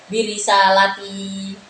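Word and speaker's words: بِرِسَالَتِي: Jadi bisa birisalati jamak, ya. Jamak muannas birisalati, atau dengan mufrad birisalati. Jadi dalam membacanya bisa lanya bisa panjang, kalau panjang berarti jamak, okay. Kalau birisalati berarti mufrad.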